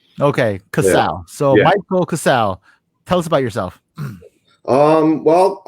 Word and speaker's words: Casale: as you told me, the right way to pronounce it is actually Casale, right? Casale, yes. Right. But not many people have realized that with the E at the end, so it's just Casale.